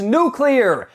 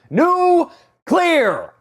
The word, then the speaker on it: nuclear: oh God damn it the word is nuclear n u c l e a r there's nothing between the C and the L it's two syllables that's it new clear you sound like a damn fool when you say it wrong Lex and Lenny head